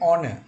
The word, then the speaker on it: honor: An honor. Here H is silent.